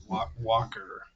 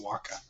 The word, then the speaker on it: Walker: Walker, not Waka. And the last survivor. Man, this sucks, guys, that pronounce these R's.